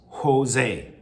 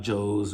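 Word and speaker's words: José: And B, Jose, it's pronounced Jose, not Joe's or Josie. Ho, like an H, Jose.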